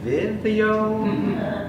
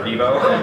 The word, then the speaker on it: Vivo: So that product is Vivo. It's pronounced Vivo. Everyone always is like, is it Vivio? And then it's not this Vivo.